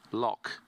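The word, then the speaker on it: Lough: spelling of l-o-u-g-h but lock is the way to pronounce that as it's it's Irish so Ukraine versus Germany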